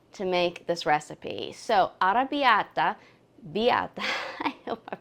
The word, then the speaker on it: arrabbiata: It's called Ara Biata. You got to roll the R with those two Rs. Practice it a couple of times and you'll get it.